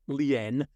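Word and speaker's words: lien: we're talking about is what's called a commercial lean now this the lean is spelled l i n Leen some people pronounce it but it's a commercial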